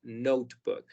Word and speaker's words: notebook: La E aquí es muda. Nada más vamos a pronunciar note, y luego book, todo junto, notebook.